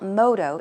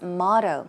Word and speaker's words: motto: to say woof - try saying motto okay not modo its motto so basically a motto